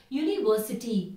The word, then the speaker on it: university: see some more words University with University the sound is yellow that's why we say a university I am an MBA